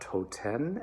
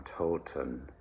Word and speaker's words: Toten: an unvoiced sound um toten totally easy nice big round open o the second syllable that's the magic of german it is not toten as if it were latin italian or spanish it is german so it is a schwa neutral um kind of sounds um toten all right